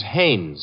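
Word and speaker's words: Haines: No, no, no, not Hines. Hannes. Couldn't be. Honeyberg. No, it couldn't be. The name is Hannes.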